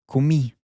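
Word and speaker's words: comí: Again the stress is on the end of the word ki.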